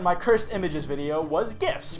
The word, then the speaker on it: GIF: cursed images video was gifts pronounced with a gust sound I will say this again but if you pronounce it like jiff you were fucking wrong you peanut butter sucking